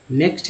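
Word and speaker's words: knack: Next है तो नैक, तो यहाँ के जो है, के भले के के बाद जब भी एन आता है तो के जो है साइलेंट हो जाता है, और यहाँ पर सिर्फ उच्चारण एन से होगा, तो हो गया नैक।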